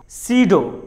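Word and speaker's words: pseudo: अगर letter P के बाद एस आ जाए तो लेटर पी साइलेंट होता है. जैसे साइकोलॉजी, साइकोलॉजी. साम, साम. सीडो, सीडो.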